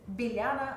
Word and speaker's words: Bilyana: It's Bilyana. Is that right? I've pronounced that right, haven't I? Oh, it's been entertaining hearing all the variations. It's Bilyana.